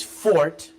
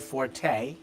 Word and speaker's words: Forte: over everybody understands that the pronunciation number four is Fort it's not the English word Forte why do you say that because they had a conversation where Mike rapoli told them it's the Italian word meaning strong oh okay